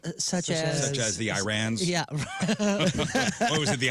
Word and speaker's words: Iran: the Iranian people but you're pronouncing a country's name wrong our country is named Iran not Iran please once and for